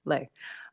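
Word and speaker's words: Lê: My name is Councilmember Lay. The name is spelled L-E. There's an invisible hat over the E. It is a Vietnamese word, is a short word. That's the pronunciation, Lay.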